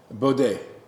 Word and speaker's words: Baudet: Baudet. All right, it's French.